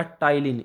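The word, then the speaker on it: Ptyalin: इसकी स्पेलिंग है जो वो थोड़ी सी डिफरेंट है, PTYLIN। तो पटाइलिन क्या करती है? इसको आप पटाइलिन से याद रखिएगा, क्योंकि इसको प्रोनाउंसिएशन मतलब हम इसको बोलते तो टाइलिन ही है, लेकिन जो एक्चुअल स्पेलिंग है वो P से स्टार्ट होती है।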